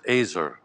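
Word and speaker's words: ezer: a help same word the word is azer rhymes with razor yeah so God is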